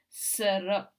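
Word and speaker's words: Sehrot: salt zara it is it's written s e h r o t but it's pronounced serra and yes a character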